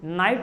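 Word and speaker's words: knight: लेकिन इंग्लिश में ऐसा नहीं होता, कभी साइलेंट हो जाता है, KNOT नॉट हो जाता है ना, KNIGST नाइट हो जाता है कि नहीं।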